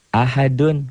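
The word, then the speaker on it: أحد: Ahad, bacanya ada e-nya. Kayak bola yang mantul, jatuh tidak langsung diam. Mengeper, mengembal. Ahad.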